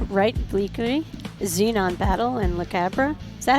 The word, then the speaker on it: La Cabra: If I were to say it in like a South American way, I'd be say La Cabra Brewing. Okay. I'm guessing. La Cabra.